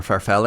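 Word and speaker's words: farfalle: So, this was homemade uh chicken Alfredo with bow ties or farfell I believe would be the Italian pronunciation.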